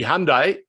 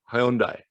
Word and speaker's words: Hyundai: saw the success of hyundai look i can tell you when we started the telecasts in australia and they it was the hyundai a-league people were saying the hyundai no no i said hyundai they couldn't even pronounce